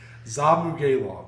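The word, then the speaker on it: Zhumagulov: I always mess up that last name. Zamugalov, I believe is how it's said.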